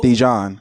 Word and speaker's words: Dejuan: Dijon. As in the mustard? No, I'm asking, is that how we pronounce it?